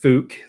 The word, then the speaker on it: Phuk: And it's supposed to be pronounced Fook, like fluke, but without the L.